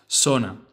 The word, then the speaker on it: zona: Zona. The pronunciation of the letter Z in Spanish will vary per country, but as a rule of thumb, in Spain, it will make a th sound, so the word itself